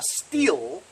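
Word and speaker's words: Stihl: criticizing somebody else calling something a sorry a steel weed whacker still so he was criticizing that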